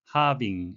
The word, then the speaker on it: halving: 반으로 줄이다, 반으로 나누다, halving, L은 발음이 안 되는데요.